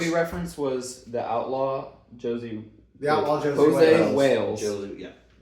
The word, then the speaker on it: Josey: movie reference was The Outlaw Josie. The Outlaw Josie Jose Wales. Wales. Josie, yeah. The Outlaw Josie Wales. Not Jose. It's Josie. Hose I B. said Jose. Hose B.